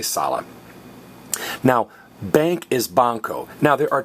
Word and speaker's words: banco: So anytime you think you're hearing a K, don't write a K. Say banco, banco.